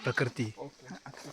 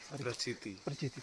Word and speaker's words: Prachiti: Jolly and Prakriti. Prachiti. Sorry.